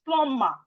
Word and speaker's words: plumber: It's plumber. Plumber. The B is silent. We are not supposed to pronounce the B.